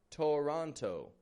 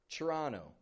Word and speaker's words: Toronto: But that T-O-R, chur, O-N-T-O, ono. Not an onto, but an ono. So instead of going Toronto, just give it a quick Toronto. Just after Toronto. So Toronto, Canada's largest metropolis,